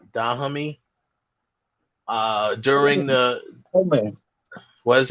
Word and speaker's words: Dahomey: protected the West African kingdom of how's that pronounced? Dahomey.